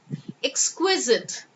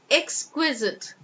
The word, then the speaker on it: exquisite: you in good stead exquisite exquisite alright now x3 zit exquisite I hope that has